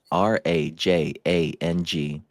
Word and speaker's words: Rajang: R A J A N G. Rajang. It rhymes with ma jang.